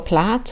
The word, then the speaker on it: plat: So maybe some words you might, what is this pleat or plat or plight? Plat rhymes with hat, so we can work out plat.